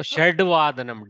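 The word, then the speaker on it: षड्वदनम्: So how do I pronounce? So Shadvadanam. Dakara has to come. Shadvadanam.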